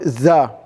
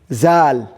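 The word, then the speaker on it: ذال: Okay, it's not actual za. Za. You have to say zal. Zal.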